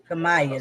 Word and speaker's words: Kemia: Kemia, that's how you say it.